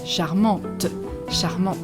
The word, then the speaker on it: charmant: at the end and you are going to pronounce this charmant with the masculine version and with the feminine you are going to pronounce it because there is an e at the end so charmant and again here it means cute charming for